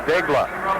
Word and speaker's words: Degla: They call him Dag on the PA system, but he pronounces his name Degla.